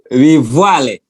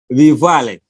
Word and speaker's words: Luvale: How do you pronounce the Luvale? All right. That's Luvale. Luvale.